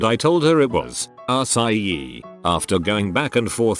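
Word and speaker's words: açaí: Show her that when it's properly spelled, the C is actually a cedilla, C cedilla, which changes the hard C to a soft C, which is pronounced like an S.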